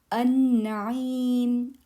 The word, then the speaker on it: النعيم: النعيم النعيم النعيم النعيم. Don't forget to do this غنة. نون تشديد النعيم. So notice lam is silent here.